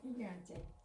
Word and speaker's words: gigante: Before E or I, it sounds like a harsh H. It's very similar to the J in Spanish.